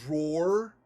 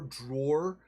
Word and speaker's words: drawer: A lot of people say drawer, like door. It rhymes with door, drawer. I say drawer.